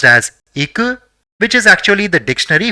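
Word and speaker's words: いく: So it will be pronounced as iku, which is actually the dictionary form of the verb ikimasu, which means to go.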